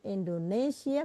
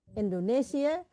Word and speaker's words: Indonesië: Wij, zonen en dochters van Indonesia. Perhatikan cara menulis Indonesia pakai trema. Karena kalau tidak pakai trema bacanya Indonesi. Wij zijn zonen en dochters van Indonesia. Indonesië beloven één vaderland te hebben, Indonesia.